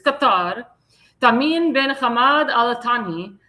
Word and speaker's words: Qatar: He said, I've been asked by the Emir of Qatar, or Qatar. That's how you said Qatar, not Qatar. Qatar. That's how the Arabs pronounce it. It's Qatar.